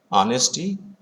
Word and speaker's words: honesty: Honesty, honor, honorary begin with H, but the letter H is silent, so honesty, honor, honorary, these words are used.